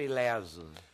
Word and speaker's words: ileso: Professor Sérgio, ileso ou ileso? Bom, em Portugal é ileso, no Brasil é ileso.